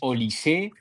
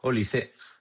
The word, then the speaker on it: Olise: Olise, que por cierto, ¿cómo se pronuncia Olise? Es Olissé. Olis Olise. Según Barak Fever. Olis. Pues Olis. Yo creo que eso lisé porque el otro día escuché que en la Bundesliga hacen una cosa que es que todos los jugadores a principio de temporada graban un vídeo diciendo su nombre y apellidos para que después en los medios se pueda pronunciar correctamente. Y creo que decía Olisé, ha acabado con esto,